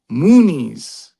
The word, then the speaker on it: Muniz: And the name is pronounced Frankie Muniz. Muniz.